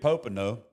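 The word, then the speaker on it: Popenoe: David P um U Popo, he I was about to say his name wrong, but it's as Dr. David Popo, he actually wrote this.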